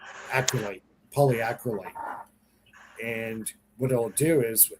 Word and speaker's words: polyacrylate: I can't pronounce that word right. Somebody help. Polyacryate. Acryate. Polyacrylate.